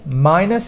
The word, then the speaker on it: minus: For spelling, minus is not easy because some people might think this is a Y sound. It's a long sound of the minus.